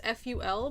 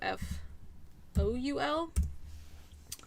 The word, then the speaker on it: ful: you'll see it as ful but it's also f-o-u-l but it's not pronounced foul and it is not